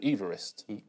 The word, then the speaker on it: Everest: There's loads of countries I used to mispronounce on point. Go on. Kiribati, which is Kiribati, apparently. And Everest, supposedly he's called Everest. Yes. But they called it Everest.